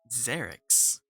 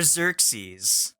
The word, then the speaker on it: Xerix: Xerix, Xerix. Okay. not Definitely Xerox not Xerox. or Xerxes, like I was very commonly called in the first session.